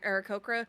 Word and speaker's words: Aarakocra: You basically skipped a syllable in the middle.